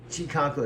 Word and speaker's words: Chikako: Chi, like chi, enter C-H-I. Chi, chi, chi, chi. And I have to go second syllable. Ka, K, K-A. And then K-O. Ko, and then she'll mess up several times, and finally she gets it. Chi-ka-ko.